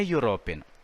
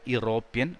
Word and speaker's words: European: The word begins with the letter E, which is a vowel, but it is not pronounced European or European, but European. Ya sound is again there. So it is a European.